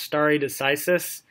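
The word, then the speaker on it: stare decisis: various judicial sources of authority this this is pronounced starry decisis and that's what I was talking about I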